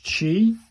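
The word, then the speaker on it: ち: This one is chi pronounced like the chi in tai chi.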